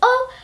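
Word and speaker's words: を: the next word is O which is a actually spelled wo in Japanese but it's pronounced o which can get pretty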